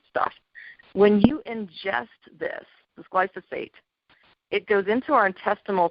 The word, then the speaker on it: glyphosate: because it's kind of a funny way to pronounce it, but it's called glyphosate.